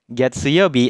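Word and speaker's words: 月曜日: di sini kita baca getse sehingga kanji ini dibacanya getse Youbi getseyobi adalah hari Senin ya Minahasa jadi hari Senin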